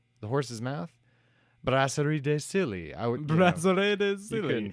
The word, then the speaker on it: Brasserie de Silly: I used to be a beer salesman many moons ago when I was a wee lad, and it's actually pronounced Brasserie de Silly.